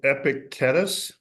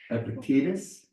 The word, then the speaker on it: Epictetus: beginning of the book by a fellow named Epictetus. I think that's the first time I've ever tried to pronounce his name right. Some old Roman or Greek guy. Epictetus?